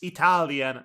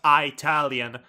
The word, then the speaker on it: Italian: And speaking of wrong, you keep pronouncing the word Italian wrong. It's Italian, not Italian.